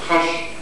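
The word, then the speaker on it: خوش: Zaten o hoş da telaffuz edilmezdi. Farsça'da haş diye telaffuz edilirdi.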